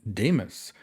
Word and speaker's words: Deimos: member of rainbow six and his name is Demus now that is spelled d-e-i-m-o-s and I do not believe there's